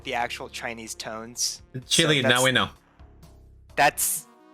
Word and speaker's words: Qilin: But it's definitely more like Hundun and Qilin than like Hundun and Killen.